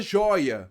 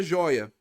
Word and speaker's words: joia: Olha a palavra joia. Vamos ver a palavra joia. Olha só. Joia. Não é a última. Qual é a sílaba tônica? A penúltima. Então é uma paroxítona.